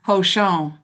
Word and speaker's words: Hózhǫ́: Yeah, Hozho.